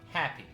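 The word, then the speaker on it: Hapi: did I introduce myself my name is happy happy that's how you pronounce it happy gothics I'll tobacco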